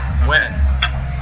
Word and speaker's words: wn: no no no the the double n is just there to remind you how the rabbit is pronounced okay right and so